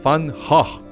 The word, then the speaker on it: Van Gogh: El exponente más conocido es, por supuesto, Vincent van Gogh, que todos pronunciamos y seguiremos pronunciando Van Gogh.